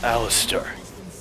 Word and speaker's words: Alistar: He's like, it's pronounced Alistar. But really, it spells all I star. Which doesn't really make a lot of sense, but whatever. It's Alistar, you know?